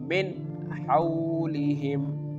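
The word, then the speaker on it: مِنْ حَوْلِهِم: can pronounce this like min haoulihim min haoulihim here the noon sound is very clear okay move to the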